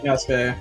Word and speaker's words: Yasuke: It's Yasuke. Yeah, Yasuke.